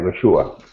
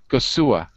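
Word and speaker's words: goxua: Yeah, Gosua. Gosua. Yes. So the X in Basque is a S sound. No, it's like in Spanish.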